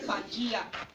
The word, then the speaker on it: Pangea: Pangea is spelled P-A-N-G-E-A.